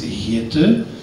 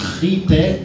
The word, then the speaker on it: Gitte: De uitspraak is Gitte, maar in het Spaans natuurlijk wordt dat Gite en dat kunnen ze niet uitspreken.